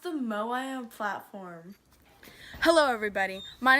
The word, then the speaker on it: Moai: change the champ interesting the tomahawk sweetheart it's pronounced the moai own platform hello everybody my name is